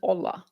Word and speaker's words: hola: that Maria hola is it's not holla is it is it is it holla or is it hola you don't pronounce the h Maria and my spoil